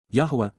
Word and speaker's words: Yahweh: to sing Psalm 89:7 Yahweh Yahweh the proper pronunciation of the name of eloah God as directed in